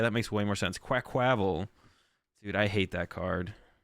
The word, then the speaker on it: Quaquaval: Oh, like quack, not qua. Quackquavel. Quackquavel? Oh, like quack. Yeah, that makes way more sense. Quackquavel.